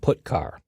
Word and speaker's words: putchar: The 2 most common C language character I/O functions are getChar and putChar. That's how I pronounce them.